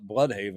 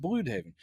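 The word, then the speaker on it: Blüdhaven: other DC show, they they would call it Blood Haven. Blood Haven, but yeah, it's pronounced Blue Haven.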